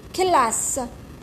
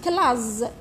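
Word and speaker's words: classe: وشنو هادي فويل، هادي فويل والاس في الوسط، كي يكون الاس في الوسط بين دو فويل واش يتنطق؟ يتنطق ز صافي. واش كتبت انا؟ كتبت كلاز، اوكي كتبت كلاز صافي، راني خاطئه. هو الاستاذ قال لي كلاس، واش ندير؟ كلا الاس ما لازمش نلاقيها مع الاو، لازم نفصل بينها وبين فويال. واش ندير لها؟ نزيد لها اس واحدة اخرى باش نزيد الاو تولي كلاس.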